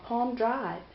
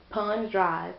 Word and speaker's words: Palm Drive: He said that, oh, I met her, we were drinking and carrying on Palm Drive. Pond Drive, P-O-N-D is how he pronounces it. But it's Palm, P-A-L-M Drive.